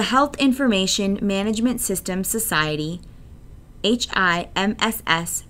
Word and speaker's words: HIMSS: information management system society HIMSS pronounced hims proposed a five stage